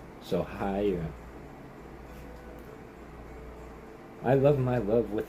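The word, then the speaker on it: Haigha: He pronounced it as to rhyme with mayor. So hier.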